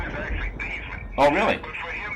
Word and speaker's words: Theismann: His name is actually Theismann. Oh, really? But for him to be a Heisman candidate, they named it the Theismann because it rhymed with Heisman. Instead of Theismann, it didn't rhyme with Heisman.